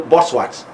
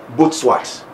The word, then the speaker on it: Butswat: Well, most of us will call this name Butswat, but he told me the name is pronounced Asinim Butswat.